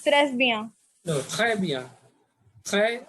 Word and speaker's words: très: Très, S silent, très bien.